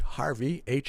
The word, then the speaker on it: Harvie: to for bass players only dot-com and search Harvey har VI e and your last name is spelled s that's it Harvey yes well bring